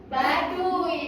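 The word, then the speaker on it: Baduy: Apa Bu itu bacanya? B A D U Y. Ba dun. Badui dong ya.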